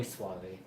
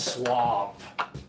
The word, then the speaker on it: suave: A Mo Suave. Moy suave. Moyuave like how tender or how soft shampoo. No, I mean that's suave which actually means soft too.